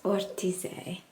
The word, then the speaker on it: Ortisei: I think how you pronounce this town is Ortize, but I'm staying at the Alpine Garden.